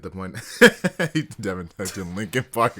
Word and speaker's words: Linkin Park: Devin typed in Linkin Park. It's spelled like Lincoln, like Abe Lincoln.